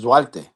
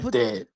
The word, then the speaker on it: Duarte: it's not going to work against Duarte.